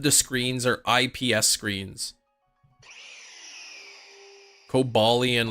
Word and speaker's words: Cobalion: the book according to the guidebook that shows the ways to say the name cobalian is the correct way yeah I remember trying